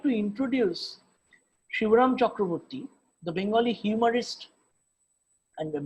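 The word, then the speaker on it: Shibram Chakravarty: about theor as he as he uh used to pronounce his name shibram chakravarti a great master of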